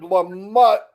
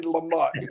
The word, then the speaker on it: Lamott: Wayma and Richard Lamott. It's so funny when he said, no, you got to say it right. It's Lamott. And I went, Dang, I was trying so hard not to say Lamont. Me too.